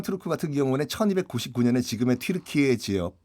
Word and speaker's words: 튀르키예: 그들은 스스로 항상 튀르키예라고 불렀던. 네, 원래 발음은 튀르키예로 해달라.